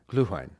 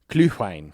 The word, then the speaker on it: Glühwein: My first one is going to be Gülwein from Germany. Ooh. Gülwein. How do you spell it? GLU with an umlaut. Okay. HWEIN. Glühwein. Glühwein.